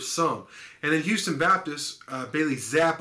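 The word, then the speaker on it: Bailey Zappe: and then houston baptist bailey zapp i believe is how you say his name uh that quarterback is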